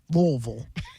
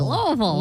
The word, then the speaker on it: Louisville: Got to have uh used to things in your mouth where you sound like that in order to say it right. Googleable. Louisville. That's it. Good job. That's it. Louisville.